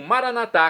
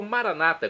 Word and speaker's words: maranatá: E agora eu clamo maranatá, como dizemos nós católicos, ou maranata, como dizem nossos irmãos. separadas das comunidades evangélicas ou protestantes.